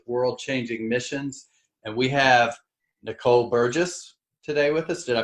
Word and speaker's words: Nicole Burgess: And we have Nicole Burgess today with us. Did I pronounce that right?